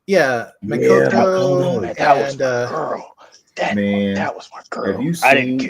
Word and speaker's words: Makoto: I just man that's when they introduced uh Makoto I think how you say her name yeah Makoto that that was my girl have you seen